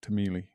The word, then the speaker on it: Timelie: and the whole time i was reading it as timeline and there is this diagonal line which does suggest timeline so it's my own fault you get revenge on it i think i'll pronounce it tameli um i played a